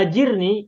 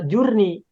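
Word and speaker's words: أجرني: aku pertolongan dalam musibahku maka cara membacanya bukan Allahumma jurnih jadi Pak Haji sebagian kita ada yang bacanya Ajir nih mungkin juga ada baca jour nih gitu ya jadi masih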